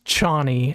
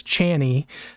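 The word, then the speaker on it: Chani: character chny is it chny or Johnny it's chny I in my head pronounced it as channy so every time they said it I was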